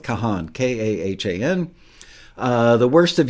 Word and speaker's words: Kahan: stick season with Noah I'm not sure if he pronounces it Con or Kahan I'm going with Kahan k-a-h-a-n uh the worst